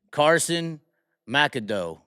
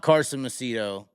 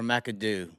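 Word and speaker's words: Carson Macedo: We have learned, speaking of Big Mac, it is actually Carson Mackado. It is not Carson Mito. It's either Carson Mackado or Macadoo.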